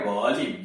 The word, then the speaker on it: Ghalib: जैसे गालिब लिखना हो तो GHALIB, पढ़ते हैं गालिब, लिखते हैं गालिब, GHALIB। घन श्याम, GHANSHYAM, यानी जी